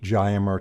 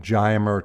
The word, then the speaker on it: Giomer: We do occasionally, but this particular composite has a unique Geimer technology that other composites do not have.